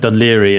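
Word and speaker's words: Dún Laoghaire: Which it's like Dunleary in Ireland, just outside Dublin. It's spelled very peculiarly.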